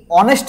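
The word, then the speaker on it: honest: দেখ এইযে অনেস্ট এই অনেস্ট দেখ এই শব্দ এরা সাইলেন্ট করে রাখি আমরা অনেস্ট বলি অর্থাৎ ও থেকে শুরু করি আমরা এটা কি বলে একটা ভাল একটা সাউন্ড ভায়লেট সাউন্ড হলে কি হয়?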